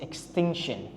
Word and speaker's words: extinction: Likely to face extinction. Ini bacanya adalah extinction. Jadi T-nya itu dibaca shin.